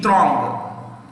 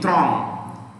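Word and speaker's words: Trong: space third word t r o n g throng t r o n g throng vin fu throng it's our dictatorship so vietnam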